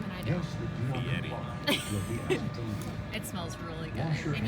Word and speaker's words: Fieri: Because you know how to pronounce his name and I don't. Fieri.